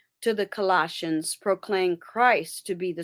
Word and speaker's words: Colossians: Colossians. It's just the pronunciation.